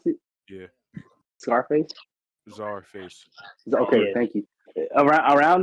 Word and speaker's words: Czarface: the time he dropped like Scarface, not Scarface, Seizure Face, and Starface. yeah, my okay, that's how you pronounce it, Yeah. Scarface. Czarface.